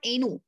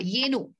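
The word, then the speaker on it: ಏನು: Is it yenu or enu? Y is silent or we will consider the Y? Yenu. Yenu. We'll consider yenu.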